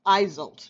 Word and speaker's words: Iseult: sending you their love Iseult eyes 'old that's how you pronounce it this is the legendary